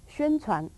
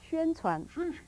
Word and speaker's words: 宣传: 宣传. How do you say? How you say? 宣传.